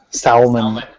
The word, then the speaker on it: Salmon: Salmon. Salmon. Yeah. Salmon. Heavy pronunciation on the L.